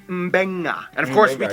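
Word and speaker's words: Beqa: makes the nd sound, B makes the mb sound. Both Q and G Fiji make the ng sound. Therefore, the town of Nadi is actually pronounced Nandi. And this word is pronounced Mbenga.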